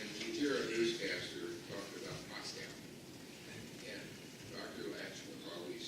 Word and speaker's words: Moscow: Lash would always say, there is no cow in Moscow. It's Moscow. Whether he was right or not, I still remember that to this day. That's supposed to be pronounced Moscow, not Moscow.